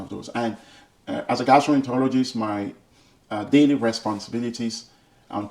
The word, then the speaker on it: gastroenterologist: Even the word is so difficult to pronounce. Not many people will be able to get it right. Gastroenterologist.